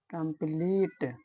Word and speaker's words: complete: जब किसी वर्ड में ई के बाद कॉन्सोनेंट आए और कॉन्सोनेंट के बाद ई आए तो ई का उच्चारण बड़ी ई हो जाता है। जैसे SCENE सीन, COMPLETE कंप्लीट।